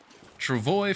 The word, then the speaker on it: travois: Travoy from the sources I've seen is the more common pronunciation.